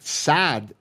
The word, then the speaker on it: Saad: on sad sad whereas my name is s-a-d but sad if I pronounce it in Arabic it's sad it has a guttural sound it refers to happiness